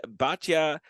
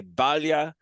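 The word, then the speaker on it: Batlle: I pronounce her name some people have said Batya I've heard Club commentators say Balia honorabalia we'll go with that I thought she was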